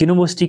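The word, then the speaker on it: university: अगर हम बात करेंगे यू से स्टार्ट होता है जो कि वावेल है लेकिन यहां पे जो साउंड है वाई की साउंड देता है यू यूनिवर्सिटी यूनिवर्सिटी तो वाई की साउंड निकली तो वाई क्या है क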